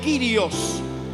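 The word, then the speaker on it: κύριος: Si ves el original del Nuevo Testamento se pronuncia en griego kirios, que significa Señor Dios, Señor todopoderoso.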